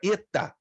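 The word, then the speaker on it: ἦτα: redobra a tua atenção pode ter duas pronúncias pode ser e um e fechado ou pode ser um I fechado dependerá muito da palavra como por exemplo quando é fechado É como fosse pêssego vai aparecer palavras que vocês vão conhecer que a letra Eta vai mudar a pronúncia não vai ser e vai ser I fechado então Então faça um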